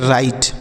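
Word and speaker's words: write: ई इसे हम पढ़ेंगे राइट डब्लू आर आई टी ई राइट पढ़ा जाएगा यहां पर यह जो डब्लू है साइलेंट है मतलब इसे नहीं पढ़ते हैं ये राइट पढ़ेंगे इसे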